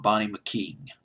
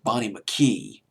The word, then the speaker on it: Bonnie McKee: She co-wrote the song with Bonnie McKean. Bonnie McKean. Let me double check on that name. I believe it's Bonnie McKean. I don't want to get this name wrong. This video, Bonnie McKee.